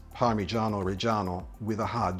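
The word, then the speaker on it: Parmigiano Reggiano: it is correctly pronounced parano reano with a hard G it's not parano or parmesan there is no J sound in Italian the sound is more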